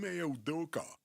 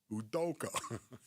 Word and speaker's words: Udoka: Yeah, this is this is what I can't wait to see because Odoka Udoka.